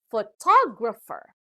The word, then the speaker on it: photographer: has four syllables and the stress is given to the second syllable this time so it is pronounced as photographer now the third word